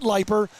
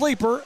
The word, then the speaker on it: Leiper: They are enjoying our announcement on the road, and thank you for correcting us and letting us know that it's not Leiper, it is Leeper, and that's why I ask for pronunciations and don't depend on the PA.